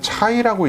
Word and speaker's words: Tsai: 첫째는 저희 한국인하고 가장 유사한 중국인에서 모낭이 어떻게 분포하는가를 연구한 더마톨로직 서저리에 실린 논문, 그래서 TSAI라고 아마도 중국분이기 때문에 차이라고 읽지 않을까 싶거든요.